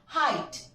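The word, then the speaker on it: height: है हमारा रीज़न कि अगर जीएच या जी एचटी किसी भी वर्ड के लास्ट में हो तो जीएच साइलेंट होता है सी हाई एट हाइट फाइट Thai फ्लाइट देखो इन सारे वर्ड्स में यह जी ए साइलेंट है फ्रेंड्स सो दिस इज़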